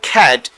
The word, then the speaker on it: cat: এটাকে আমরা ক্যাট বলি, বাট এটা উচ্চারণ হবে খ্যাট।